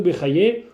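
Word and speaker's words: Bachya: Le Shara Bitachon, c'est un texte qui est plusieurs fois centenaire, qui a été écrit par Rabbeinu Bechaye, ou Rabbeinu Bachye, ça dépend comment on prononce.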